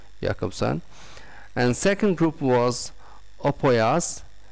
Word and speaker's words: Jakobson: group was roman jakobson it's written with jay but pronounced as yeah jakobson and second group was